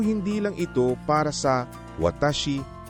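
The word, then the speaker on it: わたし: Ang watashi ay binibigkas na low high high high.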